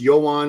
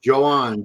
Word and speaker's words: Yoan: knows him and says, "These people telling you it's Yoan and all that, they're full of It's pronounced Joan."